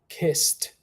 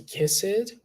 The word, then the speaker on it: kissed: say kiss kiss kissed pay attention to the ending sound kissed we don't say kiss it right and also pay